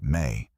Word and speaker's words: Me: The Sumerian concept of the Me, pronounced May, is one of the most haunting ideas in all of ancient literature.